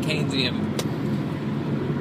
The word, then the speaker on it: Keynesian: Apparently, you pronounce it Keynesian.